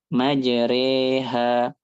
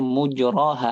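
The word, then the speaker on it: مجراها: yang kita baca majre majreha. Walaupun ada beberapa riwayat yang bacanya mujroha aslinya tapi hafuz bacanya majri.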